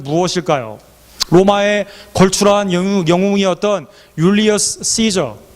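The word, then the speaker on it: Caesar: 로마의 걸출한 영웅이었던 율리어스 시저 그 라틴 말로는 케사르라고 발음하기 때문에 한국에서는 케사라라고 돼 있었고 개역한 글이 이것을 번역할 때 가이사라고 중국 발음을 그대로 따왔습니다 가이사 율리아 시저 가이사가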